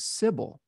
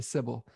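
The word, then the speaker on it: Cybele: talking about sybil sybil it makes more sense to say sybil but i think that the proper pronunciation is siboli okay it says sibeli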